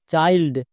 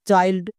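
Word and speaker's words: child: করতে হবে না next C এইচ আই এল ডি চাইল্ড এখানেও দেখো শব্দের শেষে ওয়ার্ড প্যাটেন আই এল ডি আছে তাই এর জন্য আইল্ড উচ্চারণ হচ্ছে যেমন চাইল্ড একই রকম ভাবে এম আই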